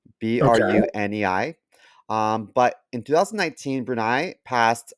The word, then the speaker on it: Brunei: This country is called I think it's pronounced Brunei. Okay. Brunei.